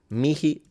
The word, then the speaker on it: mihi: I would just say that when you pronounce the H in classical Latin, I wouldn't exaggerate it. I would pronounce it as a soft H rather than, like, you don't have to go into like an Arabic sounding H. Just a soft pronunciation, and that's how I would do it.